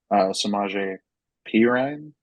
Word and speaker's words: Samaje Perine: I know he's being worked into this offense, and he's kind of splitting time with Samaje Perine.